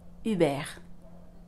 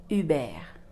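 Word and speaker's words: Hubert: correctly this word is Uber Uber why because the H that we have at the beginning of the word is silent so we pretend it's not there also we saw in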